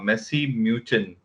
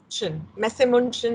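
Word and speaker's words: Messe München: head of HR in a German company called Messi Muchen. Correct? Messemunchen, India. All right. Yeah. I knew the pronunciation would go up and down.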